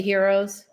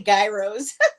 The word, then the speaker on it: gyros: The heroes. I say gyros. I don't know how to pronounce it. What is it? Heroes.